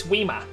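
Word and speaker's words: Whismur: It's Whismer pronounced in an English accent. It's Weema. It's my blood Weema.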